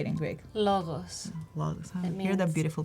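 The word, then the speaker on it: λόγος: Logos. Logos. It Hear the beautiful pronunciation words or here.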